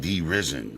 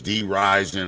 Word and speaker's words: Dee Rizen: I've been mispronouncing his name the whole time. I'm talking about D Risen. Nah, it's D Rising.